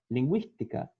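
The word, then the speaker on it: lingüística: Para que a gente pronuncie o U, a gente tem que usar a trema, que é o diéresis. Bilíngue, linguística, ok? Senão, não vai ser pronunciado o U, assim como guerra e guitarra, tá bom?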